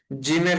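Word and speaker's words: ز: তারপরের হরফটা হচ্ছে জা। জা। জা, একদম শীষ দেওয়ার মতো উচ্চারণ হবে।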